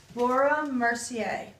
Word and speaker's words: Laura Mercier: has a french name yes how do you pronounce that laura mercier laura mercier the whole kit is made by laura mercier